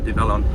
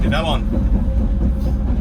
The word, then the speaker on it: Develon: a combination of the 2 words development and onwards, apparently. So going by that, Develon. I need to get into the in the way of saying Develon. I do. Develon.